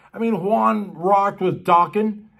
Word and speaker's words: Dokken: I mean, Juan rocked with Dokken And as you know, Dockin' rhymes with rockin'.